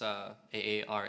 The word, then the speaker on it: Aare: It's Aare. I think that's how these pronounce it.